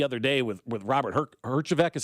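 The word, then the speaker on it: Herjavec: something uh the other day with with Robert Hergeek is how you pronounce his name from Shark Tank, right?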